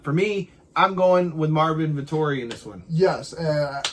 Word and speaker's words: Marvin Vettori: The next one is Carl Roberson and, let me pronounce this right, Marvin Vettori, straight out of Italy.